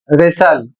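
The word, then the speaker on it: wrestle: और इसे पढ़ा जाएगा रेसल और इसकी हिंदी होती है कुश्ती करना।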